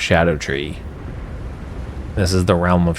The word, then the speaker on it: Scadutree: It's spelled Scadutree, but it's pronounced Scadutree.